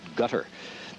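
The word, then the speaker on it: Qatar: you a moment ago ambassador from Guitar that's q-a-t-a-r and it's the centcom folks in in the Middle East pronounce it gutter Yemen and Bahrain are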